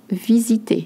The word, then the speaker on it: visiter: Visiter, you notice the Z sound, just like in framboise.